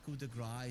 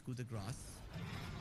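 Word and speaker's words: coup de grâce: So it's not coup de grace, it's coup de grace. Like there is an S there.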